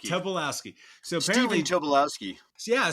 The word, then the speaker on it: Tobolowsky: Tobolowsky.